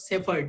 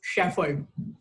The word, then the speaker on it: shepherd: I mean, I know it's difficult word because like it comes from Europe, and then again, it's not Shepherd, it's Shepherd.